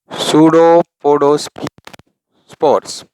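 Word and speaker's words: pseudopodiospore: मैं भी बोलता हूँ जब वो कितने स्टूडेंट उसको स्फीयर समझते, स्फीयर नहीं, सूडोपोडोस्पोर. वो स्पोर बोलने जाते जब वो ऐसा प्रोनाउंस हो जाए जैसे स्फीयर.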